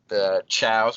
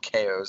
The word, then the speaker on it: Chao: You could, you had the chows, which I called KOs at the time because I didn't know how to pronounce them because they're chaos based, and switching characters like that, it was cool.